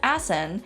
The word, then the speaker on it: Asan: Hasan. Hasan. This can also be pronounced as Asan, and the reason it